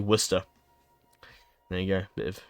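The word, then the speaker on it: Worcester: to hate pronouncing that most Americans will look at that and think War sester but that is actually oh no no no no no no I'm doing it wrong it's Worster not but yeah most people look at that and say War sester it's actually Worster there you go bit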